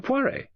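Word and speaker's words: Poirot: who you must be Mercia poire he corrected her with an emphasis on the last syllable At Your Service I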